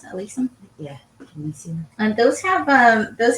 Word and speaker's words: alyssum: On the bottom we have alyssum, or is that how you pronounce it? Alyssum?